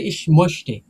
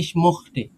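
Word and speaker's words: ich möchte: আবার একটা জিনিস আছে ভাই, যার মানে বিভিন্ন স্টেটে এক এক স্টেটে এক এক রকম উচ্চারণ করে, হ্যাঁ, জি। দেখবেন কি যে বার্লিনের বলতেছে ইস মোস্টে, আবার ওইটা দেখবেন ওই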